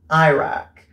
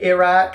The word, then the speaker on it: Iraq: Iraq. I feel like British people say Iraq, Americans say Iraq.